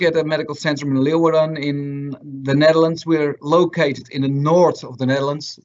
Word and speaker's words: Leeuwarden: another guest speaker, Mark Vijver from Medisch Centrum Leeuwarden from Holland.